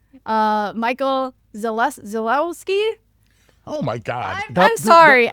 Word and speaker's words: Michał Zalewski: The Polish pronunciation is Michał Zalewski, but I usually just go by Michael, and yeah.